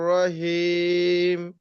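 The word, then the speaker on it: رحيم: রজিম আউজুবিল্লাহিম রাহমানির রাহিম বিসমিল্লাহির রাহমানির ইয়ে ভাই আবুল কাসেম ভাই হইছে ঠিক আছে এইযে হিম হিমটা কিন্তু উচ্চারণ আরো সুন্দর করতে হবে।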